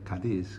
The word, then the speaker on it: Cádiz: That is spelled C-A-D-I-Z, Cádiz, Cádiz.